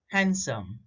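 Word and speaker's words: handsome: देखो ये common words है जिसमें D है लेकिन वो हमेशा साइलेंट रहता है, जैसे वेंसडे, हैंडसम, हैंकरचिप एंड सैंडविच।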